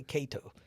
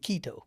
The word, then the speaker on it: Kato: And you know, they would come people would come to me and they they could never say my name. They couldn't say Kato. They said, "Kito, keto, keto."